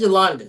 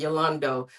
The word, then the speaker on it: Yolanda: It is Yolanda. She said that's how you pronounce it. People pronounce it Yolando, but she said it was Yolanda.